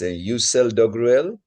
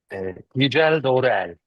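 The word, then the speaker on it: Yücel Doğruel: So the next speaker would be, I don't know how to pronounce this, Yücel Dogruel. Yücel Dorel.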